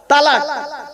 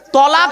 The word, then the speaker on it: তলাক: অনেকে ভয়তে উচ্চারণ করে না। তালাক। কি বলে? কি বলে বাবা? তালাক। শব্দটা তালাক নয়, শুনে যান আজকে, শব্দটা তালাক নয়।